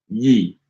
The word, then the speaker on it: gli: I think the secret to that, the pronunciation of that word, is you have to put your tongue in the position as if you were about to say an L, but don't pronounce the L. But put your tongue in that position and then instead pronounce a Y sound. So, li.